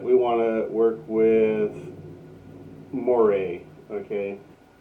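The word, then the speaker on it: Moreh: So we'll say that we want to work with Moray, okay? And it's spelled M-O-R-E-H, okay? So it sounds like Moray, okay?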